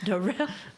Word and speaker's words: Darrell: Spelled like Daryl. Darrell. But it's Darrell.